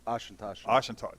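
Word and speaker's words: Auchentoshan: Am I pronouncing? You can help me out. Oshentoshen. Oshentoshen.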